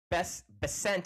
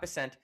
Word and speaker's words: Bessent: of Scott, the Secretary Bessent, I think is how you say his last name, Secretary of Treasury Bessent, Scott Bessent, talking about something really cool that I'm excited about, and I think you'll understand why.